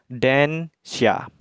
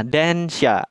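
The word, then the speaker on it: 電車: Nah, kanji warna merah itu kanji listrik, maka kedua kanji ini akan dibaca densha. Nah, densha, den kan listrik, sha itu mobil.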